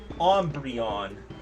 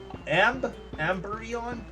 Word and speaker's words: Umbreon: My Umbreon amberon. I think it's just pronounced am umbreon like ombre.